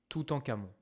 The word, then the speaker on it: Toutankhamon: La prononciation est sûrement mauvaise, mais en général, en français, on va prononcer Toutankhamon. Okay ?